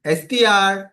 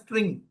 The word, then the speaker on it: str: is str and moreover many of students they pronounce it as string. Guys there is no data type in python called as string. It is str.